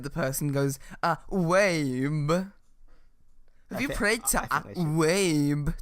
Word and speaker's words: Uayeb: Aueb. It's pronounced. Okay, it's spelled AH space UAYEB. Aueb. I'm not sure that every time it's said the person goes, Wabe.